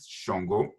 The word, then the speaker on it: Shango: It's Shango, pronouncing it with the Nigerian accent, Shango.